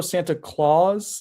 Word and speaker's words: Santa Claus: Santa Claus, like it's spelled like a clause in the contract.